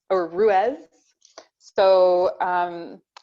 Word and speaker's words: Ruis: elder and to the celtic tree alphabet letter ruse or ruez so um it's pronounced rues which is a word that's derived from the